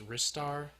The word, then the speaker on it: Ristar: it's like come on it's pronounced wrists are off